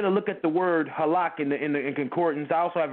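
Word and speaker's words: הלך: It's halak, if I'm pronouncing that right, brother? Absolutely, perfectly.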